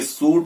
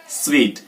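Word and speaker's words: suite: और लास्ट अगर मैं वर्ड की बात करूं वो है ये, अगर मैं इसका ई हटा दूं तो आप बोलेंगे सूट, और ई लगा दूं तो सूटे नहीं बोलना है, इसको बोलेंगे स्वीट।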